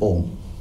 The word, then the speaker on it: Om: your ears and chant Om like this. Close your ears and chant Om. lot of stress on the last part also, ma sound.